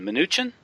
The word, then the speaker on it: Mnuchin: You mentioned Goldman Sachs and his appointment, or his pick is this guy, Steven Mnuchin. That's how you pronounce it?